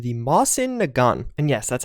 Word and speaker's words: Mosin Nagant: be one with an interesting name and interesting pronunciation of that name the mossen a gun and yes that's how you pronounce it I